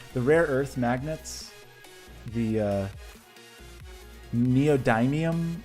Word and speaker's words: neodymium: time is everyone ready prepare it was me neodymium neodymium neodymium neodymium I have a real problem with pronunciation because I grew up in Texas where